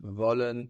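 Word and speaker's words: wollen: so we saw how the German w sounds like the English V I want volen to want we vashion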